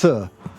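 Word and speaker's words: þ: meow meow meow oh P Thorn is pronounced as th th you know that sign that you saw oh yeah th that's how it's pronounced so his name was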